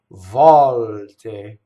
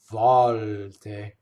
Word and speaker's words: volte: Volte. Notice the L into the T. Volte.